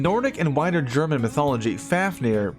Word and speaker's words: Fafnir: In Nordic and wider German mythology, Fafnir, parenthetical Old Norse pronunciation, Fafnir, is a mighty dwarf who is the son of Hreidmar, the brother of Regin and Othir.